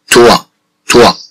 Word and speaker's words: toit: Bien sûr, avec le mot toit, on entend le son wa. Avec le mot toit, on entend le son wa. إذا مع كلمة توا نسمع الصوت و نقول توا توا.